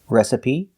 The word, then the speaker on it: recipe: They all end with an E that makes the same sound, the long E sound, like green beans. Recipe, coyote, sesame, adobe, karate, apostrophe, catastrophe, and acne.